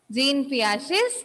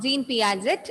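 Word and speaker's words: Jean Piaget: the first stage of gene piaget's cognitive development okay it's not gene piaget it's gene piaget okay try to pronounce like that so this is a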